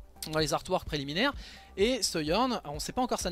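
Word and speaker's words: Sojourn: ça où se journe moi je préfère prononcer seyorn personnellement donc c'est un personnage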